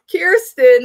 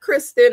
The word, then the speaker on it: Kiersten: Kiersten, not Kristen or Kerstin. Kiersten.